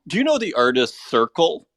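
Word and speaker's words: Serchle: know the artist Circle uh pronounced like s-e-r-c-h-l-e I don't know them so I wonder maybe I'll be able to find them on Twitter but that is an artist who's been around for a long time kind of has this I almost want to pronounce it searchle uh and kind of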